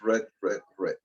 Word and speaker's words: read: O sea, read se escribe las tres veces igual, pero es read, ¿ya?